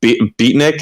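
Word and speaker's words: Betnikh: Scrolls Online, like Ordon, or I think it's Beatnik. Is that how you pronounce it? Or Betnik? Betnik, yeah.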